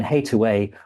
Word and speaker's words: Hathaway: And hate away was an alternative pronunciation of Hathaway in Shakespeare's period.